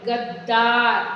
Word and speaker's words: गद्दार: द्वार द्वादश द्वंद द्वितीय द में द जुड़ा है तो द पढ़ेंगे गद्दार देखिए दो बार द का उच्चारण हो रहा है गद्दा मध्य नजर अब